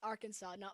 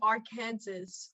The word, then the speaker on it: Arkansas: play the google pronunciation to prove that it's pronounced arkansas where is the w in our kansas where is it it's arkansas this is why i hate english ameri in